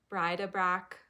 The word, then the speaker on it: Bride-a-Brac: It's the Bride-a-Brac pouch. I'm not saying that in the French way. I'm just saying that in the American way, but it's spelled Bride-a-Brac,